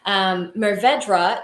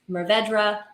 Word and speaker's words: Mourvèdre: I've heard it Mourvèdre. And if I'm in the mood to do a little like flair on the R, I'll go a little bit closer to the French pronunciation of Mourvèdre.